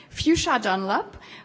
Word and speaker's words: Fuchsia Dunlop: Fuchsia Dunlop, I have to say it properly, Fuchsia Dunlop, who's an award-winning cook and food writer specializing in Chinese cuisine.